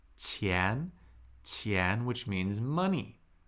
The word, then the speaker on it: 钱: And Qian, this character, is the very important character pronounced Qian, which means money.